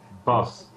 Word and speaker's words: Bas: and two of the co-founders from Reus, or however you want to pronounce it. Hello. Manuel and Bas? I forget again. Bas, It's difficult.